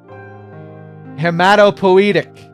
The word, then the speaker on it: hematopoietic: i you'd be like poi could be pronounced poey or poei eyes aren't always pronounced as i hematopoietic hematopoietic so that's it